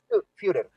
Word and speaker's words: Führer: No te preocupes, mira, lo más fácil es que la U se pronuncia IU, entonces es Führer.